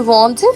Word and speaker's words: vendent: For example, ils vendent, which means they sell. Remember, the final ENT is silent.